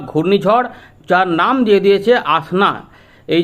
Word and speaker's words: আসনা: ঘূর্ণিঝড় অর্থাৎ cyclonic storm যেটার নাম হচ্ছে আসনা এস এন এ প্রোনাউন্স কি করা হবে এটা আসনা এটা দিয়ে দিয়েছে এটা